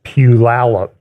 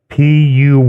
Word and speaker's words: Puyallup: By the way, next Sunday, I will be speaking at Renewed Life Church in a town in the Seattle area, which phonetically is Puyallup, Puyallup.